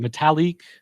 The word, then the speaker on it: Metalik: Metalik.